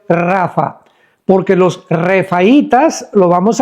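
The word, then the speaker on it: Rapha: Pero se pronuncia en el hebreo Rafa, porque los refaitas, lo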